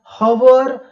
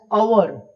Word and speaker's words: hour: We pronounce not एज हवर बट we pronounce it एज अवर या आर।